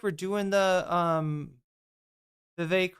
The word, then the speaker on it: Vivek: It looks like we're doing the Vivek rhymes with cake.